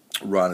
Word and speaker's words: Ran: The Killers love that Ron or ran Ron is the correct pronunciation I believe Kira kersa uh kersa